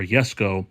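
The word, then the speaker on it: Jesko: just overall the kig Jesco or yesco as it's pronounced really just looks pretty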